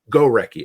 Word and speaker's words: Gorecki: Is that how I pronounce it? Or Gorecki. Gorecki.